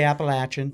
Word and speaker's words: Appalachian: They're both correct. It just depends on where you're from. Disgusting. I know. We say Appalachin.